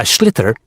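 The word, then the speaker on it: sliotar: And basically, you have to get this ball called a schlither.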